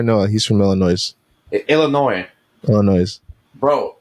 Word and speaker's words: Illinois: tell me it's not Illinois, it's Illinois. So that's a silent? Yeah, that's the silent. Huh, I'm gonna ask my boy Noah. He's from Illinois. Illinois. Illinois.